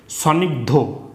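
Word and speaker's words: স্নিগ্ধ: থাকবে ধতে ধ মুগধ এখানে দেখো স দন্ত হ গধ সনিগধ হ্যা উচ্চারণ হবে স নিগধ ঠিক আছে তারপর এখানে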